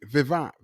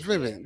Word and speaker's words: Vivint: over the weekend, and Vivant. It's a security company called Vivant. Yeah. That we right. And I might be saying it wrong because I see it a bunch of times. Vivint, right? Vivint.